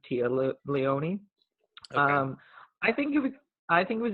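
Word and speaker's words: Téa Leoni: I think it takes I've heard Talia knee and Keith Tia Leone um I feel like the proper one is Tia Leone I think I think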